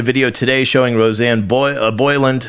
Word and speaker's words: Boyland: today showing roseanne boy boyland you wrote roseanne boyle but that's not her name uh if you're going to try to say her name say it properly roseanne boylan being trampled by dc